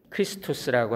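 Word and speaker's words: Χριστός: 표기를 하지요 줄여서 쓰는데이 x는 영어가 아니에요 히라바 알파벳에 22번째 글자인데 CH 사운드입니다 키라고 읽어요 크리스토스라고 하는 단어의 첫 글자입니다 그래서 크라이스트를 이제 줄여서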